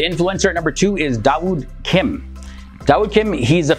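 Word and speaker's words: داوود: Now, after becoming Muslim, he changed his name to Dawood Kim, and Dawood is the Arabic pronunciation of the name David.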